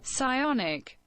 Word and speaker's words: psionic: The pronunciation psionics. Let's see. Pressionis. Yeah. So I see. Okay, this here. Psionic. You don't pronounce the P, right?